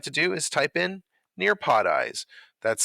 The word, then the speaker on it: Nearpodize: take a look at is how to install nearpod eyes so let's begin the first step on your